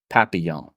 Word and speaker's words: Papillon: It starts with a P, and if I have my French pronunciation correct, it is Papillon.